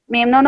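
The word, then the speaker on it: memnun: मेमनन ओल्दम, मुझे मिलकर खुशी हुई। अली मेमनन ओल्दम, मुझे मिलकर खुशी। बैन दे मेमनन ओल्दम, मुझे भी मिलकर खुशी हुई। जी बहुत शुक्रिया। अब यहाँ पे ममनून का लफ्ज जो है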